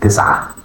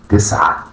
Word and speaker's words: تسعة: It is pronounced تسعة تسعة تسعة.